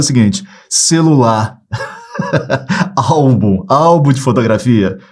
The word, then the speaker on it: álbum: Álbum de fotografia. O pessoal das antigas sabe o que é. Ó, álbum, separei as sílabas.